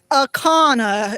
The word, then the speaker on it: Ancona: It's Akana. It's spelled Ancona.